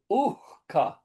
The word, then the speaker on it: uhka: No, but only other thing is it might be easy to miss that the second line un uhka, that is So the H is pronounced there?